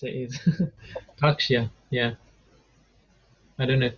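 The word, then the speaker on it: Tārkṣya: How I pronounce it is Takshya. Yeah. I don't know if that's correct. Takshya. See, where there's a line above the A, it makes it a long A.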